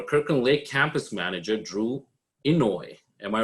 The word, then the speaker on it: Inouye: And we have our Kirkland Lake campus manager, Drew Inouye. Am I right? Am I pronouncing it correct? Inouye, yeah, that was pretty good.